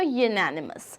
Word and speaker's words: unanimous: यूनानिमस. अगर इसका हिंदी में हमें प्रोनाउंसिएशन देखना है तो हम कैसे बोलेंगे इसको?